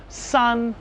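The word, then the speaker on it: 三: It's pronounced sun. S. Okay. And what's funny about Chinese now is that they don't have a pronunciation th like a lisp, like thank you. Thank you. Thank you. Instead, they would have s because that would be the closest way to pronounce thank you. So instead of saying thank, they say s.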